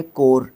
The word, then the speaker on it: coir: कोर ये होता है गायकों की मंडली, ठीक है, कोर इसको प्रोनाउंस करते हैं।